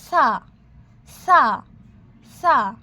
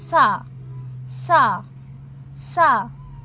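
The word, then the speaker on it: ث: তাহলে এটা হলো সা, সা, সা। পাতলাভাবে আমরা সাকে উচ্চারণ করব সা, সা, সা।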